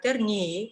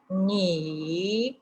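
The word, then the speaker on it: 你: Es decir, voy escribiendo el carácter ni, ¿ok? Usted, uno de los primeros que se aprenden a escribir. Voy escribiéndolo trazo por trazo. Mientras escribiendo, voy pronunciándolo. Ni, en el tercer tono.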